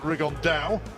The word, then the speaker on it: Rigondeaux: And Tete's talked about fighting Rigondeaux, or as he's correctly pronounced with the Spanish accent, Rigondeaux.